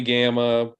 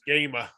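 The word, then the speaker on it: GAMA: and uh um definitely gamma probably Origins probably Gen Con it's it's actually pronounced gamer yeah is it really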